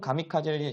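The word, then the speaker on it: 神風: 시작했다 우리 신품을 이제 일본어로 한다고 하면은 일본어로 발음하면 우리가 미카 집니다 어디서 많이 트로 봤죠 자 그래서 이런 신품 가미카제 신성시 하면서 다 중에 2차 세계 대전 때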